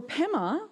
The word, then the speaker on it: Pema: For Pema, what happened there was it did start off as Padma. And if you go to Ladakh, it's still pronounced Padma. But in the same way that very few of us now say button, and we say button, it became pama, which became pema over time.